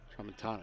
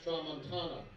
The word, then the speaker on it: Tramontana: So we just got a correction on the pronunciation over at DH. It's Tramontana. Tramontana, excuse me. Max Tramontana.